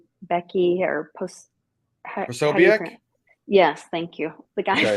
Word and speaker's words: Posobiec: Like Jack, and I always say his name wrong, Becky or Posobiec?